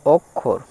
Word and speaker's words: অক্ষর: Next আছে অক্ষর, অ কয়ে মূর্ধন্য ষয়ে হচ্ছে র, তাহলে অক্ষর, অ কয়ে মূর্ধন্য ষ র, অক্ষর।